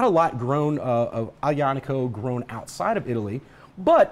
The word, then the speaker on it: Aglianico: So some people will pronounce this Aglianico or Aglianico. Yeah. It's Aglianico properly.